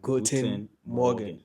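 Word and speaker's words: Guten Morgen: Is it Goen Morgan? Did I say it right? Yes, you got it right this time. Goen Morgan.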